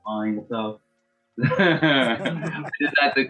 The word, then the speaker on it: T.Einsoft: Einsoft, not Heinz, not Ein, like Einsoft.